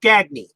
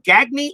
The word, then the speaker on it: Gagne: Or is it pronounced Gagney? I I I have I've heard announcers pronounce his last name Gagney or Gagne. It's going to be difficult. I'm going to pronounce it Gagne.